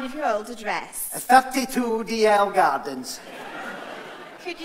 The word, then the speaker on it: Dalziel: No, it's Rory Duguid, 32 DL Gardens.